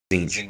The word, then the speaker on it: Tzeentch: How's it pronounced? Tzeentch.